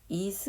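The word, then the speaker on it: 椅子: 의자 라는 뜻이 거든요 이 의자는 한자가 의 의자에 의외의 에 아들 자 짤을 써서 의자 이스 라고 읽어요 이스 있은 옥 의자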